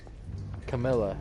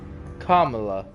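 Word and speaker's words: Kamala: I mess that up every single time yes Camila Harris you s like five different ways five different ways I feel like everyone pronounces it five different ways on TV Camila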